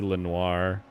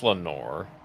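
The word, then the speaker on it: Lenore: movie all right P Lenoir coming around oh oh look that's actually that's Lenor Lenor yeah like quoth The Raven pining for my sweet Lenor yeah that's how they pronounce it all right well our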